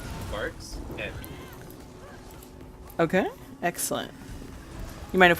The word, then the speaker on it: Varxent: How would we pronounce it correctly? Because I feel like I'm going to butcher it. It's Varxent.